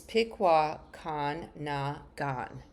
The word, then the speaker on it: Pikwakanagan: Let me pronounce that again. It's Pikwakanagan First Nation.